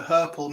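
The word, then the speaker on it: hirple: of a valid one for purple so purple rhymes with purple that's h-i-r-p-l-e and a herple means to walk with a limp no but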